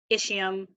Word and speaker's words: ischium: Ilium, ischium, coccyx, and sacrum. That's how you pronounce those.